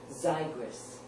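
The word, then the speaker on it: Xigris: Z spelled x i g r i s pronounced zyris this cost $220,000 the nurse said tonight when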